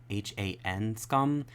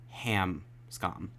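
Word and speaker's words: Hanscom: want to note that i mispronounced ben's last name throughout the entirety of the episode his last name is han h-a-n-scum hanscum not ham scom n's and m's are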